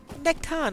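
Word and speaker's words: Nechtan: Nectan actually might be a reasonable one. Silent H actually sounds most appropriate there.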